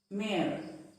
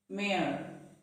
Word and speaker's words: mayor: Mayor. Mayor. It is not mayor. The Y is silent. So it is not mayor, but it is pronounced as mayor.